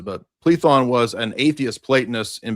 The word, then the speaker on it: Plethon: And I think you meant plethon. You mispronounced it, but plethon was an atheist platonist in Bzanthium.